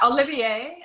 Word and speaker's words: Oliviere: beautiful brand and am I saying it right Olivier so yeah Olivier uh it's actually my sister's married name so